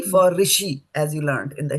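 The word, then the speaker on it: ऋषि: it which means it is the R for rishi as you learned in the Hindu language.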